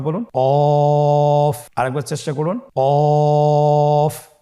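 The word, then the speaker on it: ق: কফ। কফ উচ্চারণের ক্ষেত্রে অবশ্যই 3 আলিফ টেনে পড়তে হবে।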